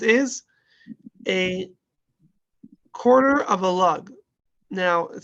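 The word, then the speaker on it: לוג: But a log is actually a Hebrew word. It's a lug. That's the more proper way to pronounce the word lug.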